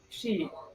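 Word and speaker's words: щи: Yeah, it's she. It's I will spell it in Russian for you in the chat too.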